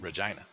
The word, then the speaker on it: Regina: hometown of Regina saskatchwan Regina Regina yes rhymes with the best thing ever he actually makes that